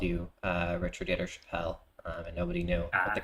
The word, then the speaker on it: Chappell: Is it Richard Yetter Chappell or Chappell? Chappell. Chappell. Rhymes with that.